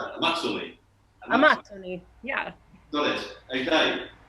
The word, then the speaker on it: Amazzoni: So, I kept calling it Amazoni, but it's actually an Italian, it's an Italian Brazilian gin, so it's pronounced Amazzoni. is that right? That's Okay. right. Amazzoni.